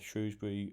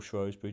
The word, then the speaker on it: Shrewsbury: seeing value in the shrewsbury away win or the draw so i mean look at that 5.90 you'd have got winning uh for shrewsbury or schroeder depending on how you pronounce it don't offend anyone